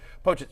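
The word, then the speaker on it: Pocic: How do I pronounce his? Pochit. I was going to say Dolchit. That's the tight end in Denver. Sorry. Pochit.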